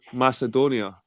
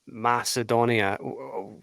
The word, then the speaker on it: Macedonia: the whole thing about Macedonia where I would say you have to focus is the middle syllable Edon you know the caledonians the mass edoni that kind of Edon part is where the focus needs to lie rather than before it